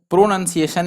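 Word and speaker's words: pronunciation: प्रोनाउंसिएशन, यहाँ पर बहुत लोग जो इसको पढ़ता है प्रोनाउंसिएशन, ऐसे लोग पढ़ते हैं, तो प्रोनाउंसिएशन से ही ये नाउन ही लिख दिया, लेकिन एक्चुअल में यहाँ पर नन होता है, ये नाउन नहीं होगा, ये होगा PRO, NUN, नन, और सिएशन, प्रोनाउंसिएशन।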